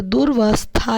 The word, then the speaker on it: दुरवस्था: द्वेष परार्थ दूर अवस्थामा अ यहां पर साइलेंट हो गया है दूर अवस्था में है तो यहां पर दुरवस्था लिखा है लेकिन वह बढ़ने में आएगा दुरवस्था प्रति दृढ़ मर्यादा सरवत या